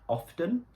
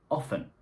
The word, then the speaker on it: often: have often or often it doesn't matter if you pronounce it with a t often or without the T often both of them are correct for example I often